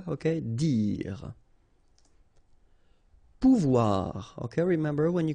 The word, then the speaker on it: dire: Dire. Same thing here, you don't insist on the final e, okay? Dire.